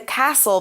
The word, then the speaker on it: castle: The princess lived in the castle by herself for 20 years.